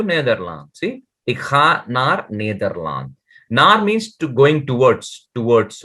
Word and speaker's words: Nederland: Neder. Nederland, because E is A, na?